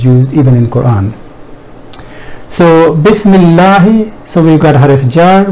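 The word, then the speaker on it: بِسْمِ اللّٰهِ: At other places where ism is used, even in Quran, alif is remained in writing although not pronounced, but in Bismillah it drops in writing as well, and usually it is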